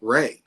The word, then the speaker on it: Ray: cup I usually say Ray is Ray like the sunshine and so it kind